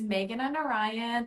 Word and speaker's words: Meghana Narayan: lanan Lanna okay and I'm actually could you pronounce your name for absolutely so hi everyone my name is Megan and Orion I am the author of a little bit